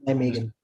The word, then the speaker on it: Nijmegen: And how do you pronounce that? It's Nijmegen or? Yeah, well, here they say Nijmegen with a soft. Okay. But I pronounce it as Nijmegen. Okay. An American would pronounce it as Nijmegen. Okay. Yes, it's Nijmegen. So J and M is silent.